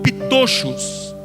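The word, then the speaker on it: πτωχός: E a palavra humildes de espírito se pronuncia no grego como pitochos.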